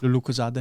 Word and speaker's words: Lucozade: How's it pronounced? Lucozade.